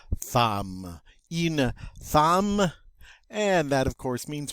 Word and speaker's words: une femme: Une femme.